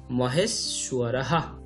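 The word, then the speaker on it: মহেশ্বরঃ: এরপর আছে গুরুহ বিষ্ণু, তারপর গুরুহ দেব, এরপর আছে মহেশ সুয়ারাহা। আমরা আমাদের প্রথম ভিডিওতে দেখেছিলাম মহেশ সুয়ারাহা, এখানে বফলা উচ্চারণটা আছে উ আ, যেহেতু ছয় বয় সেহেতু উচ্চারণটা আছে সু অ, মহেশ সুয়া রাহা।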